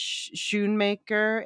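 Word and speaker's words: Schoonmaker: I know it's pronounced sh maker I guess in English but it's actually a Dutch nameone marer but anyway Sho maker anatomy of a fall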